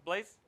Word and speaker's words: Blaise: Is it pronounced Blaise?